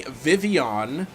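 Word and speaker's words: Vivillon: good we got the shiny Vivion which I'm just learning now is the correct pronunciation diss tracks back in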